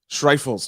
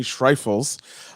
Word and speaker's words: Schreifels: pronounce last name okay it's german so it's trifles schreifels okay schreifels uh from the road